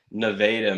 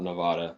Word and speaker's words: Nevada: Neveda, Missouri, not Nevada. It's pronounced differently, apparently.